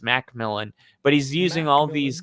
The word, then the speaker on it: McMillan: and the Jalen McMillan, which he just said is pronounced Macmillan.